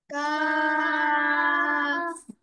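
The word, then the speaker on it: ك: কাফ একটু তিনালি সময় টান হবে, কাফ। কাফ লাস্টে এফ এর উচ্চারণ ফ, কাফ।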